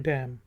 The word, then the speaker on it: damn: Word use करते हैं डैम। और एन साइलेंट है।